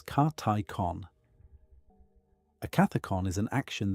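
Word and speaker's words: καθῆκον: The first is Cathicon often translated as appropriate action or proper function pronounced roughly as Karticon.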